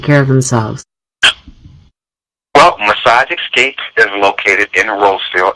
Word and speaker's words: Xscape: you with that and when he says xscape it's the letter x EA AP e okay right absolutely most